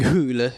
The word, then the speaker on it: Hole: cable show coming out is his name Harry hle that's they pronounce it whole on the film I'm like pretty sure they do because I think decided that that uh Michael Fender is saying hul would be too silly but it is my